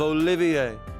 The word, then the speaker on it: Olivier: am the drifting poet and seeker of love olivier he wouldn't do for passerby to mistake me